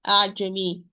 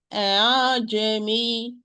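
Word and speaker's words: أأعجمي: the way of Shatibiya, in the word of Ajami. Ajami, Ajami, Ajami, which means that we are going to pronounce the Hamza somewhere between the Hamza and the natural mad alif.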